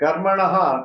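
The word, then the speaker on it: कर्मणः: Please remember, the Visarga is to follow the pronunciation of the previous vowel. That's all. So, Ikti, E is there, therefore, the Visarga also takes the same pronunciation. HI. So, Karmanaha, Karmano Karmatasya.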